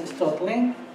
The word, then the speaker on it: Stoelting: My second student is Austen Stoelting. I hope I pronounced it correctly. She told me the E is silent, so we learn.